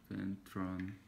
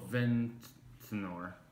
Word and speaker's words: Ventnor: can you pronounce it? Ventron. Ventron? Ventor. Oh, Ventnor.